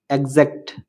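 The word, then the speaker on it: exact: example example E এক্স a city এক্স্যাক্ট এক্স্যাক্ট ই এক্স আই এসটি এক্সজিস্ট এক্সজিস্ট আশা করি ভিডিওটি আপনাদের এক্স অক্ষটির উচ্চারণ বুঝতে সাহায্য করেছে নিয়মিত অনুশীলন করলে আপনিও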